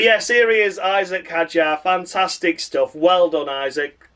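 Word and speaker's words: Hadjar: It's Isaac Haja and as Harry Benjamin said, Isaac Haja.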